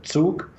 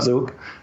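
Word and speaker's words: Zug: little town in Switzerland Duke that's by the way the right pronunciation not Zook and to Malta in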